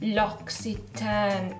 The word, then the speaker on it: L'Occitane: they're bougie or not l'occitane is how you pronounce it i feel like that's